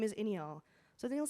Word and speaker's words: Iniyaal: So I tell my friend, I'm like, "Go tell Zach that my name is Inial."